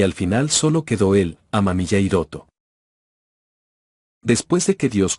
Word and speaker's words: Amamiya: Amamilla no amemilla.